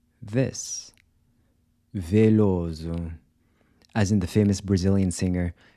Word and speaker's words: Veloso: So the “t-i” is also pronounced like the “c-h” in “chip”. famoso…nervoso…curioso…gostoso. How would you say this? Veloso…as in the famous Brazilian singer Caetano Veloso.